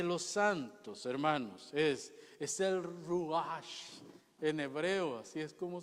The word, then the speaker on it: ruach: Así que la perfección de los santos, hermanos, es el ruach en hebreo, así es como se pronuncia, el ruach de Dios, el aliento de Dios, el que viene a nosotros cuando lo recibimos.